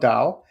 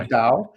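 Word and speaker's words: Tao: so great question so it's actually called Dao it's spelled t-a-t-a-o but it's actually like a Dao and it's um um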